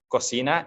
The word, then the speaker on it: cocina: And we don't pronounce it cocina, like some of my friends have said to me, cocina or coquina. It's cocina because it's Spanish.